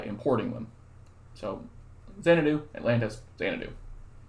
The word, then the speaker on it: Xanadu: So Xanadu, Atlantis, Xanadu. Typically this is pronounced Xanadu in case you didn't know.